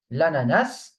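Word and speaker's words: l'ananas: Uh, for this one, the S is pronounced at the end. Okay. Lanas. Pineapple.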